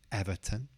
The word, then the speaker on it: Everton: Palace Crystal Palace next Everton Everton it's quite similar to Brighton because it's got that T o n at the end pronounces turn not tun Everton Everton next this